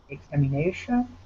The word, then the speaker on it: examination: Yes, I think there's a secondary stress in there as well. Examination. Again, two syllables. Examination. I believe you're correct. I believe that has secondary stress as well.